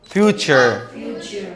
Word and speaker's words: future: الكلمة دي اسمها فيوتشر. فيوتشر فيوتشر. يبقى هنا عشان قبلها فاول نطقت التي اهي.